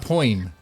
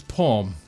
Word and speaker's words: poem: poem see Ryan so it's not point it's poem okay yes okay all